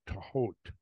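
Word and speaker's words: Thoth: She said that the presumed correct pronunciation, and I didn't know this until then, but it was is Tahot.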